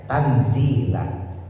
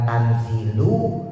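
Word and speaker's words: تنزيل: Jadi dibaca tanzila, bukan tanzilu, bukan tanzili.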